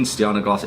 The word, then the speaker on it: Stjarnagloss: All I know so far is the J in Stjarnagloss is pronounced as an I.